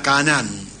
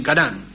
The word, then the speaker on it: Canaán: Aram y fue a Canaán. Canaán se escribe con dos A y con acento en la última A, que hoy es Palestina.